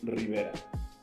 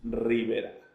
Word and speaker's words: Rivera: And can you pronounce it again? Rivera. Very Spanish. Rivera.